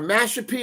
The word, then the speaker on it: Mashpee: And I know you're a Mashpee. Am I saying it correctly? Mashpee.